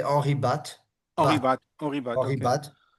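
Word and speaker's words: Henri Bate: No, it would be, I think in French we say Henri Batt, Henri Batt, Bat.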